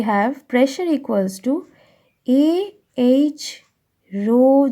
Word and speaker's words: rho: It is written as like this and it is pronounced as rho, R-H-O, into gravity.